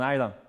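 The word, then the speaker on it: Islay: Kalila, a lot of people pronounce it Cole Isla, because it's on Isla, but Isla is just pronounced Isla.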